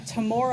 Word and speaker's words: Temora: So, yeah, Tamora, I believe is how you say that name.